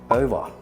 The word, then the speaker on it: over: If you want to say something is done, something is over, you don't say over, you say over.